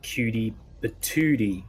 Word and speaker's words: Cutie Patootie: You know, it's actually Cutie Patootie is how you pronounce that, but I know what a Cutie Patootie is.